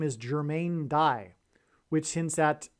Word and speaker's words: Dye: played Dyersville that's why this player's name is die Dyersville is spelled d-y-e-r-s-v-i-l-l-e and the White Sox won the World Series in 2005.